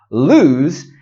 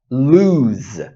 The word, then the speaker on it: lose: The first thing we need to talk about is the different pronunciations. Lose has a Z or Z sound at the end. Lose.